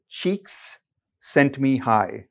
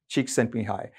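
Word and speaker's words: Csikszentmihalyi: the name okay and the mnemonic is uh that you pronounce it as cheeks sent me high okay chick sent me high so that's how you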